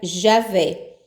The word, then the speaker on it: Javé: dos sinais vocálicos TSE a transliteração e vé para o português que se pronuncia Javé forma preferível ao nome Jeová ainda Deus disse façamos